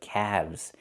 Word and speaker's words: calves: Not calves, but calves. The L is silent and we pronounce the V sound with vibration plus the Z sound like zebra.